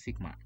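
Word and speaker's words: Σ: Ini m kebalik ini bacanya sigma ya.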